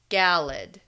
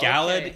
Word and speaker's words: Galad: she calls this guy Galad.